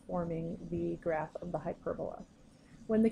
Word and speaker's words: hyperbola: second syll and so when you pronounce it you say hyperbola so try practicing saying that out loud to yourself hyperbola so the equation that